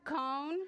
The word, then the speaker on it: con: Cone means with and sounds a little like cone, like ice cream cone.